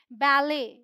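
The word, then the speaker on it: ballet: French से आए हैं सच एज बैले इसे हम बैले बोलते हैं बैलेट नहीं बैले गोरमे रेपो ऑल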